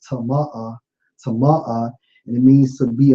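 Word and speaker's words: טָמֵא: Hey, bro, and if you look at the term polluted in the Hebrew, it's Strong's H2930, pronounced as tama'ah, and it means to be unclean, sexually.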